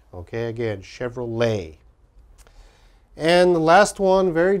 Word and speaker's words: Chevrolet: Chevrolet. Okay, again, Chevrolet. And the last one, very difficult to pronounce.